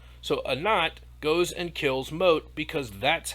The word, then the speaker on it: Mot: they almost take on mott mott is like hades mott is the god of the underworld it's actually pronounced moat i say mot because it looks like it's moat l initially sides with